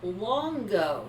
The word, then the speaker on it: Luongo: was old enough you pronounced our last name Longo the you is silent